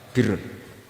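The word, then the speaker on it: بِرّ: Ya kalau di isim fa'ilnya umumnya guru-guru kita baca barin, tapi untuk masdarnya untuk kebaikan bacanya apa? Birun. Nanti kamu protes, oh barun itu daratan Gus, kalau birun itu kebaikan.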